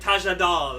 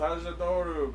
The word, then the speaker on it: Tajador: It's like Tajadal. You mean Tajador? No, it's Tajadal. It's Tajadoru, because Condor, not Condol.